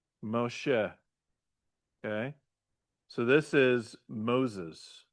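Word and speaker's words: משה: So this is a mo, she, right? Moshe.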